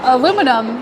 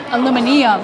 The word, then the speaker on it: aluminum: how to say aluminum, because it's aluminum here in America, but they say aluminium or something like that.